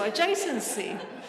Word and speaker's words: adjacency: I told her I cannot say this word, you only forget about the D. Okay, so adjacency.